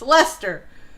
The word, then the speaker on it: Leicester: saw Lester, I'm like, how do you pronounce this thing? And Batman was like, you pronounce what? And I spelled it, and he goes, it's Lester. I said, it's got way too many letters in it to be Lester.